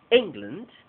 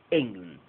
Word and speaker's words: England: sustantivo fuerte en england otra vez tenemos una palabra de dos sílabas toda la fuerza de voz en eng eng cuando ya vamos a decir Land no hay aire entonces decimos sh Land england england the Bank of england